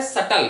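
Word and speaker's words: subtle: Next word आपका है सटल, ध्यान रखिएगा, प्रोनाउंसिएशन ध्यान रखेंगे, बी साइलेंट है, सटल।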